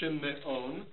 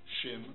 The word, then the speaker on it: Shimon: It's not shimmeon. It's not aviraham. It's avraham. Shimon. Okay?